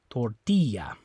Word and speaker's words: tortilla: be on this I the second last syllable tortilla okay so it's not the oh you don't say tortilla it's not the a